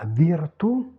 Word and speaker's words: virtù: ok pas de souci le ou accent grave position finale. En position finale pas d'allongement vocalique la virtù la vertu la Juvent jeunesse.